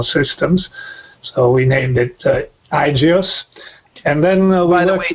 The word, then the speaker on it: IGEOS: So we named it Igios. And then by the way, just for listeners, that is spelled IGEOS .net, right?